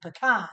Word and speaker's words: pecan: And she's like, "Ooh, look, Mom, they have pecan pie." And I'm like, "Oh, girl, you're in Ohio. You need to pronounce it the Ohio way. That would be pecan."